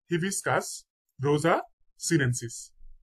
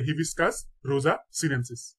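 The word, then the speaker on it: Hibiscus rosa-sinensis: নেমফিয়া নৌচে আলী জবা জবার বৈজ্ঞানিক নাম হচ্ছে হিবিস্কাস রোজা সিনেন্সিস তাহলে হিবিস্কাস রোজা সিনেন্সিস ভিডিওটা কয়েকবার দেখবেন তাহলে উচ্চারণ গুলো ঠিক হয়ে যাবে ইনশাল্লাহ কলেরা কলেরার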